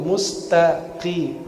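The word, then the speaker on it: مستقيم: Yang kita baca ihdinas siratal mustaqim. qim, bukan kim. Karena qaf dan kaf berdekatan.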